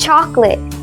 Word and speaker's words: chocolate: It's chocolate. No extra syllables.